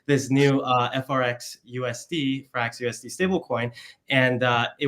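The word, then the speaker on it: FRXUSD: the ethos of f FRX USD pronounced fra USD with this new stable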